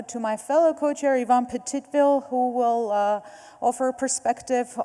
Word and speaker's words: Petitville: turn it over to my fellow co-chair, Yvonne Petitville, who will offer a perspective on the work program that we are concluding on just this year.